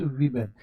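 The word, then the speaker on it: women: जरूर लिखा हुआ है डब्लू ओ एम ई एन वूमेन का प्लूरल है इसका उच्चारण करते समय इसका उच्चारण करते समय आपको क्या लिखना है क्या बोलना है इसको थोड़ा देख लीजिएगा भाई मेरे इसका उच्चारण करते समय डब्लू ई एम ई एन बोलना है यानी अर्थात इसका उच्चारण जो करना है तो आपको ऐसे करना है जी विमन इसको क्या पढ़िए वमन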